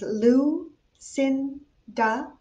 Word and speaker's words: Lucinda: name is lucinda you pronounce my first name as lu sin da and one important thing